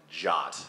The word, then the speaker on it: JWT: by by not just adopting the J witty pronunciation of of jot so anyway with that being said I'm really